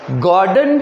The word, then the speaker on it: Gordon: एक है गॉर्डन cook, जी वर्ड जो है उसको ज हिंदी शब्द के जगह ग हिंदी शब्द में, हिंदी वाला जो अल्फ़ाबेट है ना, ग, गॉर्डन, GORDON, गॉर्डन।